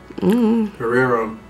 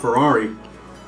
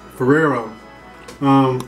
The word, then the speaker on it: Ferrero: I believe is it Ferrero? Ferrero? Ferrero. Not Ferrari. Ferrero.